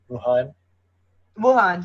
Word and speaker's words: Wuhan: It started in Wuhan, right? Am I saying it right? Wuhan, yes. Wuhan, yeah. Sorry, I will butcher the names.